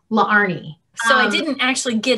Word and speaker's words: Laarni: So my name is spelled L A A R N I the two A's right there used to give people a hiccup because really my name is pronounced LA Arnie.